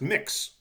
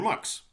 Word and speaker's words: MX: to know all right MX pronounced mix okay or mux and basically a title